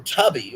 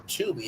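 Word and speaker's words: Tubi: on you right there tuby or tubby or tuby as it really is pronounced sees growth with over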